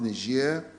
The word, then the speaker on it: Niger: And these are the G20 in Japan, the African Union Extraordinary Summit in Niger, as it's pronounced, Niger, the SADC Summit in